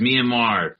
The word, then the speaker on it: Myanmar: Myanmar, is that how you say it? Mm-hmm. Yes, nice. Myanmar.